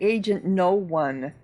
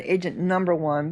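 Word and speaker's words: Agent No. 1: So, they pronounce it agent no one, which makes sense instead agent number one, but they have an N O dot. So, you're thinking number, but it's no one.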